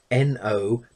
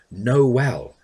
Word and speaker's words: Noel: books, I remember them, he would write his name N-O-E-L. In other words, he wanted it pronounced Noel, not Noel.